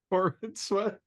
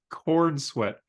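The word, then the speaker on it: Corenswet: 4 David Corin sweat Corin sweat said corn sweat I think it's Corin sweat it's spelled Corin sweat I I thought you said like corn sweat I all right we're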